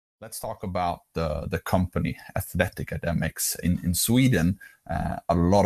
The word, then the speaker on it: Athleticademix: behind it is is to be pronounced as athletica demux so the reason for